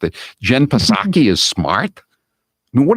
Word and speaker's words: Psaki: When people think Jen Psaki, excuse me, I mispronounced it. Jen Psaki is smart.